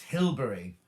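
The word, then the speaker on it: Hilbre: years walking across to hilbra oh pronounced hillbury crosby beach is one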